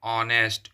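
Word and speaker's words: honest: और ईमानदार का होगा ऑनेस्ट। इस तरह से ऑनेस्ट होता है। तो ऑनेस्ट होता है तो यह वोवेल साउंड ओ से स्टार्ट हो रहा है।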